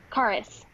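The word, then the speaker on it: Charis: So Karis. Oh, it's Karis with an H.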